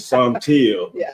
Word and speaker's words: Saunteel: paper, he spoke about the correct pronunciation of your name, which is Saunteel, son of the color teal.